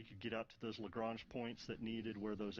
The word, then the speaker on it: Lagrange: Is it Lagrange or Lagrange? It's Lagrange. I think depending upon what part of America or the part of the world you're from, it could be a different pronunciation there. You know, Daryl reminds me all the time it's Lagrange, but if you're from the South, it's probably something else.